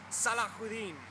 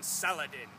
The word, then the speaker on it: Salahudin: face a mighty foe salahudin the English then their are poor mispronunciations call him Saladin sounds like a salad if you ask me but he is a